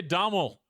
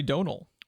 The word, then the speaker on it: Domhnall: I kept wanting to say Domhnall Gleeson for some reason. It's actually Donal.